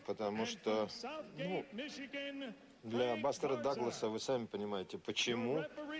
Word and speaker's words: Douglas: у нас в прессе пишется это дугс вообще-то произносится Даглас Давайте его всё-таки будем